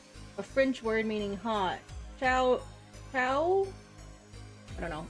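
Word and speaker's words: Chaud: Chao? I don't know. It's supposed to be pronounced with a silent D. Although in-game dialogue suggests it's pronounced closer to Chow.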